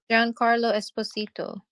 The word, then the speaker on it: Giancarlo Esposito: Giancarlo Esposito.